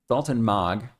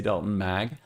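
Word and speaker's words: Dalton Maag: Daltton Mog. I looked up how to say it this time. I didn't say Daltton Mag. Daltton Mog.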